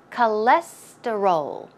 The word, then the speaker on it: cholesterol: time pronouncing this word the stress goes right here on the second syllable so it's cholesterol cholesterol cholesterol cholesterol okay